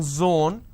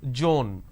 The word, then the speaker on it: zone: sometimes interchange as well for example it's zone instead of saying zone they pronounce this as joan these are the mispronunciation